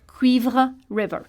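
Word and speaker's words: Cuivre River: a French word and River the English way qu River okay and what does that word mean the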